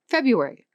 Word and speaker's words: February: Or February, a word almost everyone pronounces February because the first R is essentially invisible.